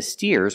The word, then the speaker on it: steer: steers and the the steers are helping the farmer steer with a long e sound like beer and clear steer let's practice what